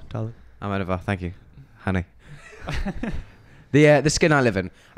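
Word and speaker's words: Almodóvar: I was waiting for somebody else to pronounce the name. Almodovar, darling. Almodovar, thank you, honey.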